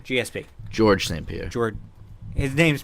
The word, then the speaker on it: Georges: George St. Pierre. George. His name's pronounced Georges.